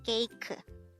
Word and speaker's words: 케이크: So instead of cake, it becomes KEIKEU.